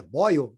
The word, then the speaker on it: Boyle: tarde né pessoal o Robert Boyle que é Boyle pronúncia Sabendo dos experimentos de Eric em parceria com